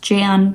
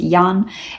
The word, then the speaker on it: Jan: that it's not pronounced Jan, that it's pronounced Jan, it's kind of similar to John.